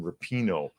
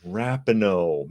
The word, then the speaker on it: Rapinoe: I have to make a retraction talking about Megan Rapinoe, because it's not Megan Rapinoe. Apparently, it's Megan Rapinoe. Megan Rapinoe. I mispronounced her name.